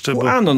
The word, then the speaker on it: QAnon: są kojarzeni z ruchem Kanon, tak? QAnon, tak? Jak to wymawiamy już? QAnon mówimy.